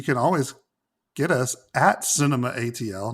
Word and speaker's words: CinemATL: on what's going on i know it's spelled cinemato but it's cinema atl but anyway if you want to tweet us you can always get us at cinema atl not cinemato but if